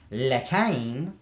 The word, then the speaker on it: L'Chaim: So you got to understand, when the ancients said Aleph Lamed Chaiim, which would have been pronounced L'Chaim, it basically meant first, highest, all-knowing is life.